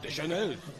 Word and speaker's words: Deschenes: It's kind of French-Canadian and... Deschenes. Yeah, there you go.